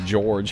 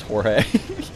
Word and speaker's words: Jorge: Also, apparently that guy's name is pronounced George. He just spells it weird. I thought it was Jorge.